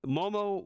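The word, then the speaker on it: Momo Watanabe: have a uh word from I'm hope I'm pronouncing this correctly uh moo Momo wanabi Momo yes you said it right it's Momo Momo wavi sweet awesome with uh back when she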